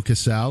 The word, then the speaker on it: Casal: Tattoos by Keith and I'm joined by Joe Cassel am I pronouncing that right that's correct or do you